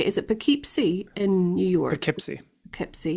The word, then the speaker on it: Poughkeepsie: Is it Poughkeepsie in New York? Poughkeepsie. Poughkeepsie. Yeah, Poughkeepsie.